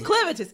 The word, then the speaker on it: Clevatess: You know what's throwing you off? It's the A. Clevatess.